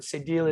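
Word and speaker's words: cédille: answer is a deal is the the french pronunciation of it uh cedilla is english but sadil is we ask for the french it's correct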